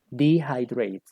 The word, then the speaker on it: dehydrate: hydrate, Dehydrate. dehydrate. Ahí Ok, en un diccionario puedes buscar la escritura, pero la pronunciación es dehydrate.